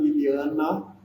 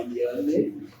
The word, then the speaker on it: Liliana: Porque o Jardim Liliana, que 90% dos moratenses falam Liliane, tá?